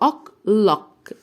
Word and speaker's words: o'clock: وقلنا ان السي كي الاتنين دول بننطقهم ك، دي بنطقها ك، دي بنطقها ك. ما ينفعش اقول ك ك ك ك ك ك غلط، لا انطقها حرف واحد وهو ك، يبقى أوك لوك.